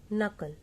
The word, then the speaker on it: knuckle: Knuckle. Here K is silent, so we have to pronounce from N, like knuckle.